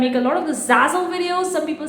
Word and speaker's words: Zazzle: Like, they watch the entire videos and comment on my videos like, you said the Zazzle at Jazzle, Jazzle, instead of Zazzle.